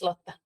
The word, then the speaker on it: Lotta: Lotte is that's actually a Finnish name, so I can see it from the last name, but yeah, it's Lotta.